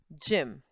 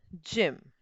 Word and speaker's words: gym: I, E or Y, then it is going to produce the sound of J. Soft sound. So because Y is there the sound of G will be J and the word will be pronounced as Jim. The word will be pronounced as gym.